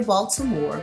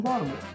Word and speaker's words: Baltimore: city Baltimore right now I can say Baltimore because that's how it's spelled and I'm from Baltimore you probably won't even hear the T but what I'm saying